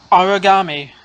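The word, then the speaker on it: Aragami: Origami is, I believe, how you pronounce it. Basically the word origami with an A instead of the O.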